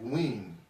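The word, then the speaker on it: Nguyen: sound a lot, like wing, that NGWEN, like that's a common last name. Win, it's kind of how you say it in English.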